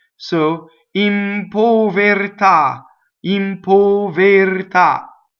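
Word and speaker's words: in povertà: the P right so impo very tah impo very top so the accent is on the last syllable right all of the O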